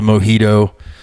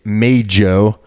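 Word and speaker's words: Meidjo: around about this before many people call it the Mojito they call it the Mojito they call it all sorts of things it's May Joe and it's uh that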